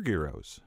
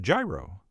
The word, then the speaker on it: gyro: guys are after all the heroes of your garos or if you're into the alternative pronunciation you could also be the Curtis blow of what many people call a gyro which could actually be the right way to say it since there's no such thing as a geoscope but either way like